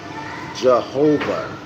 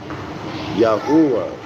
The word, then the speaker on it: Yahuwah: And invariably substitute in the stead of the word which we absurdly and erroneously pronounce Jehovah, Yahuwah.